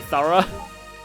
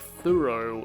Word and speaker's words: thorough: Someone's pointlessly thorough. Yeah, it's kind of interesting how that's pronounced like more like thorough in the US, but it's definitely thorough in British and Australian English, but...